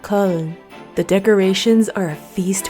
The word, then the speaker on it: Köln: Today we explore the Christmas markets of Germany, specifically the holiday joys of Cologne, which in German is pronounced more like Köln.